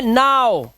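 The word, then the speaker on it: now: अब देखो यहाँ पर ओ डब्ल्यू का उच्चारण ओ होना चाहिए, लेकिन यहाँ ओ तो नहीं है, तो दिस इज नॉट, ये है नाउ। देख रहे हो उच्चारण क्या आ रहा है, इसका उच्चारण आ रहा है नाउ, नाउ।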